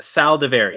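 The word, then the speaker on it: Saldiveri: Old Dominion for this I'm going to say that's pronounced Sal davary oh there you go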